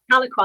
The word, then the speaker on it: Tahlequah: Is that the right pronunciation? Tahlequah? Tahlequah, that's it, Tahlequah.